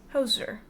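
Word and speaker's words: Djoser: visier sage architect astrologer and chief minister to hoser D hoser the hoser the artist hoser no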